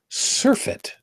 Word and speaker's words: surfeit: it up really quick, surfeit, I believe is how it's properly pronounced, a surfeit of CO2.